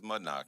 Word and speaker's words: Mudnoc: Um, well, easy for me because my name is is is Mudnock. M U D N O C. Uh, it's condom spelled backwards phonetically.